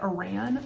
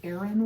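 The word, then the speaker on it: Aran: off on Instagram and I kept calling it Iran but I'm pretty sure it's Aaron weight like I don't know I'm pretty sure that's the pronunciation anyways this is Hedgehog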